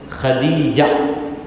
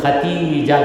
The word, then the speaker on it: خدیجہ: جب تک خدیجۃ الکبریٰ، خدیجہ یہ صحیح تلفظ ہے، مگر یہاں پر چند لوگ خدیجہ کو ختیجہ کہتے ہیں، دال کو تے میں بدل دیتے ہیں، یہ ہمارے لوگوں